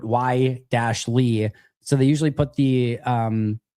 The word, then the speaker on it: Wiley: And like with Wiley, they put Y-Lee.